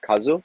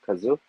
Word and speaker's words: Kazu: want to say uh my name is pronounced Kazu not uh Kazu okay I apologize no